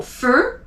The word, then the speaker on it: feu: So feu, EU is E.